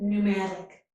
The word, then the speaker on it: pneumatic: So the letter P is silent. This is pneumonia and pneumatic.